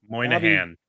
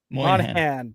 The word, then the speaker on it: Moynihan: Moynihan. Moynihan.